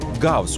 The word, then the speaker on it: Goos: takılı mikrofonlar aracılığıyla gerçekleştirilir nesne GS olarak telaffuz edilen goos adını kullanıyor diğer hitap biçimlerine